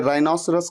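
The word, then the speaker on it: rhinoceros: गैंडा एक जानवर होता है, एक एनिमल होता है ना, उसे राइनोसरस कहते हैं।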